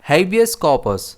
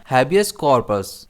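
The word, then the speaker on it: habeas corpus: इसे हम प्रोनाउंस करते हैं हैबियस कॉर्पस जिसमें स्ट्रेस एच और के पर रहता है और इसका दूसरा प्रोनाउंसिएशन है हैबियस कॉर्पस।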